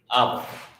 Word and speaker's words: abba: even hard to get it's pronounced ah right abba that means father in hebrew that's another one i